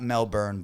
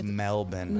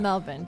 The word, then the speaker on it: Melbourne: right now in in Melbourne it's not Melbourne by the way it's Melbourne Melbourne don't mispronounce it get it right uh so today